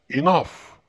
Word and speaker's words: enough: كتبناهم لكن لم ننطقهم، لكن إذا وضع في آخر الكلمة تنطق فا مثل enough، E-N-O-U-G-H enough، نطقناهم فا.